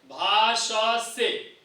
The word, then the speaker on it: भाषसे: भाषसे, श से दंत्य श, तालव्य श और स दंत्य स, भाषसे।